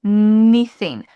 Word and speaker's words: anything: Anything. Pay anything. Pay. You can almost think about it like in. Pay in. Like I-N. Pay anything. Pay anything. Pay instead of pay anything, like a clear A sound.